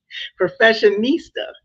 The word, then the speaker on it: professionista: And how did your journey lead to you finding was it well, Lord, I might say it wrong. Professionista? Professionista. Yes. Yes, it's an Italian word.